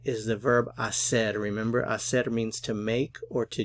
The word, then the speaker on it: hacer: here for the verb Acer remember that the H is silent so we have isse